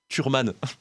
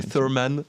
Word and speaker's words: Thurman: comment ça se prononce c'est turman en bon français et Thurman en en américain en américain en anglais euh donc la rencontre